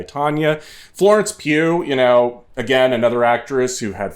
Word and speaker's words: Pugh: Is that how you pronounce it? Yeah, much like Florence. Pew, pew, pew, pew. Much like Florence Pugh, like...